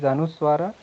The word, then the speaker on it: anuswara: First one is anuswara, and property of this is that this one is pronounced from nose only, aha, and that other one is called as visarga.